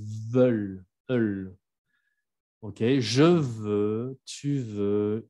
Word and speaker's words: veulent: No es vol, es veulent.